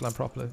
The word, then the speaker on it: Lampropoulou: So I just happen to know that it's pronounced Lampropoulou, I suppose.